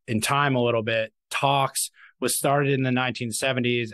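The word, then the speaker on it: TALX: Equifax acquired a company called Tox Corporation in 2007. That's spelled T-A-L-X.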